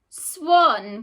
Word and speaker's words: swan: Let's have a look at a word where it makes an O sound. Swan. Good job. It makes an O pronunciation.